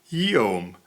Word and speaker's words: Guillaume: Gu is pronounced like a W, as in the French name for William is Guillaume, and it's Gu, but it should be pronounced more like a W. The G is silent, so it's William.